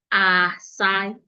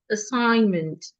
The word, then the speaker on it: assignment: You should not open your mouth to pronounce it. It is not a sign. It's assignment.